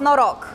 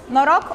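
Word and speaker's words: Noroc: way to say hi to you and it's pronounced no rock no rock also means luck so every time we're greeting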